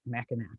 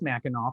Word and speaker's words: Mackinac: the streets of mackinac i know it's spelled with the c and and if you're not from the great lakes people often pronounce it mackinac but it is mackinac for the record um so it has